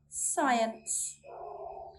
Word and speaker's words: science: We do not sound out the letter C when it comes before an I, E, Y, or after an S. Let's look at some examples. Muscle, muscle. Scissors, scissors. Science, science.